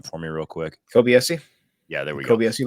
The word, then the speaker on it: Kobayashi: This post that you sent from can you pronounce their name for me real quick? Kobayashi.